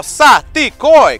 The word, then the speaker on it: Saticoy: do that right now sati koi everybody syllables three syllables you wanna know what